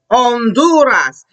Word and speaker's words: Honduras: Another country is Honduras. Remember, in Spanish, when we see the letter H, we look at it, we don't ever say it.